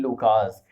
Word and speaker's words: Lukas: Lukas. In English you can pronounce it a different way, but here it will be Lukas.